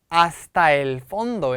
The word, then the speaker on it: hasta el fondo: 땅 위 에 라틴 아메리카 에서 널리 사용 됨 , 보통 하스타 엘 폰도 라고 발음 해 요 .